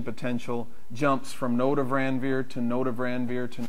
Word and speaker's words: Ranvier: If you go back to the original pronunciation, it's Ranvier, if anybody cares.